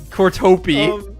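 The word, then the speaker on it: Kortopi: It's like one syllable, right? No, Or is it like 5? it's 3. Kura Peak. Oh! Kilowatt. Cortopi.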